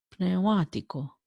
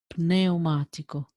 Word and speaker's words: pneumatico: So it's not as in English that we don't pronounce the P N. It's, for example, psychologist. We say ps, psicologo, pneumatico.